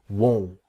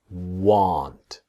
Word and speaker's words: won't: This is the pronunciation part that will not is won't. If you see the mouth is small won't but want is different that this part here comes down want. Practice won't want. Here want. Okay. Won't want. That's the difference. So here I won't go with the T. The T is silent.